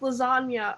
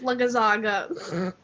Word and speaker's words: lasagna: I just didn't realize it was pronounced lasagna. I thought it was pronounced lagazaga.